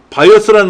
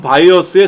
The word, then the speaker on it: BIOS: 그 다음에 바이오스라는 말이 나왔어요. 바이오스. BIOS를 그냥 우리말로 콩글리시로 바이오스라고 읽어요.